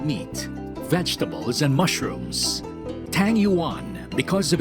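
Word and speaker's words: 鱼: Because in Chinese, the fish is yu, the same pronunciation with abundance.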